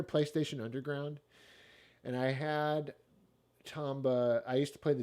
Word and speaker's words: Tomba: uh at on this this next one uh tomball uh tomball i mean uh what is it it's uh how do you say it again it's uh is it tomball no it's tombow yeah tamba what am i talking about tamba uh is